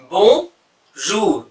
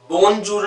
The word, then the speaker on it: bonjour: बोंजूर। बोंजूर। देखिए यहाँ पे एन का प्रोनाउंस नहीं होगा, है ना? बोंजूर नहीं होगा, ये नेजल हो जाएगा, इसलिए बोंजूर। इट इज नॉट बोंजूर, इट इज बोंजूर।